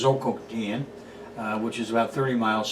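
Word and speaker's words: Zhoukoudian: The first one is the most famous one, Choukoutian, nowadays spelled and pronounced Zhoukoutian, which is about 30 miles southwest of Beijing.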